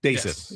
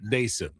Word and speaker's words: Daison: Is it Dason? Dason is how they pronounce it. Dason.